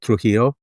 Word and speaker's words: Trujillo: how do you say her last name trujillo trujillo yeah I should know that right